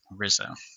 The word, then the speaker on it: RZA: And then I was building my Docker images just RZA, which I pronounced Rizza.